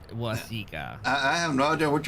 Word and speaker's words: Waseca: It's Waseca.